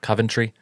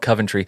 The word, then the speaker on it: Coventry: I think I pronounced that right. Coventry. Oh yeah, Coventry.